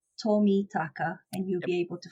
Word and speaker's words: Tomitaka: be too difficult so Japanese names are easiest as you kind of say it is as you spell it so miss Tommy taka and you'll be able